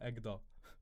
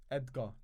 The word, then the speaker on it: Edgar: Is it Edgar or Egda? Edgar.